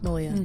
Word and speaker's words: Malia: Malia? Malia.